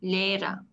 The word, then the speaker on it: Lehrer: Bak H'yi söylemiyorum. Tek başına H vurgulanmıyor. Der Lehrer.